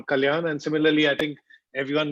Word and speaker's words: Kalyan: And joining us is Joyadrita, which is the Bengali way of pronouncing her name, Joyadrita, which would be the equivalent of if you're calling me Kollan. But now it's become more Kalyan, and similarly, I think everyone knows Joyadrita as Joy.